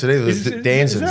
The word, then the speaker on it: DAZN: Is Danzens. that how it's DAZN. pronounced? Is it DAZN? DAZN, yeah. It's DAZN. D-A-Z-N. That's how you pronounce it.